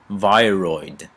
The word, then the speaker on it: viroid: And then this is another thing that will actually virials, and let me say it correctly, viroid.